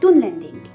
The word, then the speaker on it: Dunlending: Il faudrait donc les prononcer Dunland et Dunlending.